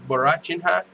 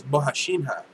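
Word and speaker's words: Borrachinha: It's not Borachinha. It's Bohashinha.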